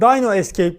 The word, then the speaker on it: Dino Escape: bir tane eksiğim vardı hatta dyno Escape diye okunuyor Aslında Bakın Şu Arkadaş